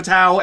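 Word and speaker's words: Batou: It's written and it's like it's supposed to be Batao, and so I have a tendency to pronounce it like Bato.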